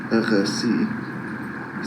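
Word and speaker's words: R&Sie(n): A pile of dust by an architectural practice whose French name, pronounced in French, hérésie, sounds like the English word heresy, which is their mission.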